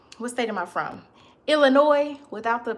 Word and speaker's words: Illinois: Illinois without the pronouncing the s. Don't be letting people tell y'all that it's pronounced Illinois cuz that's a lie.